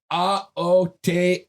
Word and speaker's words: Aotearoa: A-O-Te-A-Ro-A.